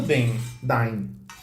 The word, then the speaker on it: Dain: Dain ou Den? Dain. D-A-I-N. Dain. Não, eu sei como escreve, estou na pronúncia. Porque em inglês eles chamam de Den no filme. Den. E pra mim eu leria Den sem problema nenhum.